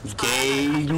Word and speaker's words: Gain: Gain. That gain indeed. Oh. It's probably because it's probably pronounced as different. No, it's gain. G-A-I-N.